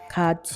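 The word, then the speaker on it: 같이: ด้วย กัน ที นี้ ตัว นี้ ออก เสียง แบบ นี้ ชิ ฉิ เออ คาชิ มัน เกิด จาก การ เชื่อม เสียง ถาม ว่า การ เชื่อม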